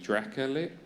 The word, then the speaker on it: Dracolich: Yeah, the comparison there as well for reference is, well, I was about to give a reference, but it's the Dracolich. Is that how you pronounce it?